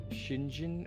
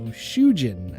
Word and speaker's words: Shujin: Shinjin Academy. And the answer is still no. Shujin Academy. Shujin? I thought it was Shinjzhin.